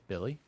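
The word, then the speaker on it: Willy: no it's Billy it's Billy you know it's pronounced Billy it's it's spelled Willie but apparently it's pronounced Billy well I'm not doing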